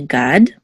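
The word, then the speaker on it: גָּד: Okay, so this is a gimel with a kamatz and the dal together we say gad.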